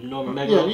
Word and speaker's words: Nurmagomedov: Nurmagomedov.